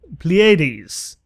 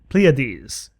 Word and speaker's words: Pleiades: find this foreign if I remember the pronunciation right Pleiades Pleiades I think I I think the second way I said it is more correct uh a star cluster